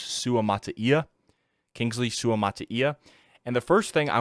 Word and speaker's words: Suamataia: long it's been since I looked up the pronunciation of his name but it's suam Mata Kingsley sua Mattia and the first thing I want to tell